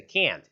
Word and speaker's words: can't: 근데 얘는 can't라고 하는 cannot의 줄임말이 얘는 발음이 좀 길다라고 생각을 하시면 돼요. 진짜 can't 이런 식으로 써요. 자, 이 발음이 can't 이런 식으로 길어요. 근데 이 can 같은 경우에는 이제 긍정의 can 같은 경우에는 되게 짧아요.